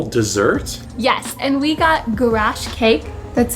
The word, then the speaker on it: garash: Yes, and we got gulash cake. That's how you pronounce it, right? Yeah, gulash.